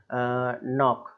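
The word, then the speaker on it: knock: इसमें भी देखिएगा कि एन ओ सी के नॉक नॉक करना तो यहां पर भी आपको जो है नियुक्ति वहां पर के साइलेंट नाइट चाकू यह बहुत यूज होता है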